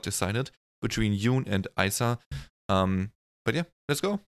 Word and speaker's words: ISA: stacy and yes i looked up how that's pronounced in korean and they say isa so not isa or anything like that which i would have